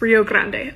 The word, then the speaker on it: Rio Grande: Grant by the way I'm a Texan and like I know we mispronounce everything it's Rio Grande I know that but like I just cannot unsay Rio Grande I'm sorry so most